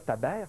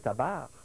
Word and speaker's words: tabernacle: Ce qui est prononcé, là, c'est pas le E dans tabernacle, c'est pas ça que les gens disent. Non, mais c'est surtout, c'est pas taber, c'est tabar.